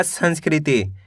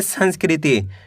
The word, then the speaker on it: संस्कृति: इ की मात्रा ती तो मिलकर बन जाएगा संस्कृति कैसे पढ़ेंगे संस्कृति दोस्तों स्टार्टिंग में आपको पढ़ने में दिक्कत आएगी